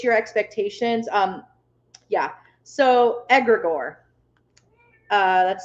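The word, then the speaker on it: egregore: kind of switch your expectations um yeah so edgar gore uh that's spelled agra gore that's spelled um e-g-r-e-g-o-r-e aggregor i think i spelled it correctly yeah yep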